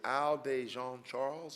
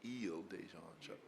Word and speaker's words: Isle de Jean Charles: Is it Isle de Jean Charles or is it Ile de Jean Charles? All right, Ile de Jean Charles is being inundated by